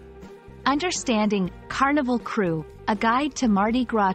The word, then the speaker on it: Krewe: Carnival crew a crew pronounced like crew is an organization or